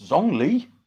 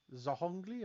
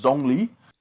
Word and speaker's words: Zhongli: It's Zhongli. Zahongli or yeah. Zong. You don't pronounce the H, it's just Zhongli.